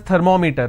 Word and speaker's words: thermometer: all pronounce this as thermometer thermometer its not thermometer its third ma meter right now meter is pronounced as meter it's thermometer it's not thermometer it's thermometer so i will pronounce or i will stress here because meter itself has two syllables clear so when you